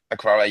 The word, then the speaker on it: Aquara: But yeah, we actually haven't founded the company behind Aquara yet, but yeah.